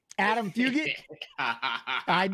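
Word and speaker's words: Adam Fugitt: I'm excited this old man that's how you pronounce his last name Adam fugit you know the other way hey trust me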